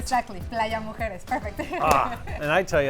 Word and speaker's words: Playa Mujeres: Exactly, Playa Mujeres, perfect.